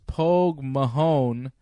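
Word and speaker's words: póg mo thóin: their home country it's Mother Russia hoog mohan pronounce Polk Mahone Polk Mahone is Irish for kiss my ass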